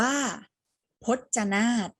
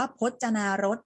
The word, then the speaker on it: พจนารถ: จะ อ่าน ว่า ชลมารค ต่อ มา คำ ที่ 2 เรา อ่าน ว่า พจนาท มี ร เรือ อยู่ กลาง คำ นะ คะ เห็น ไหม แต่ เรา ไม่ ออก เสียง รอ เรือ นะ เรา ออก เสียง แค่ ว่า พจน์ จะ หน้า เรา จะ ไม่ อ่าน ว่า พจนารถ นะ คะ อ่า เรา ใช้ ตัว